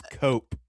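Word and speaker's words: Koepp: Leto Um, according to the internet, it's cope.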